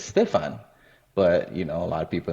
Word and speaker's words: Stephane: Yeah, so if you see the name, initially a lot of people think it's Stephanie, right? But so my background, ethnicity is I'm Haitian, and some of the family is Dominican as well. And so the proper way to say it is Stefan.